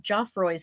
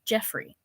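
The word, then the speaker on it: Geoffroy: And when I introduced her to Danny and Sandy, she corrected my pronunciation of Joffroyy's spider monkeys. Apparently, it's Joffroy, not Jeffrey.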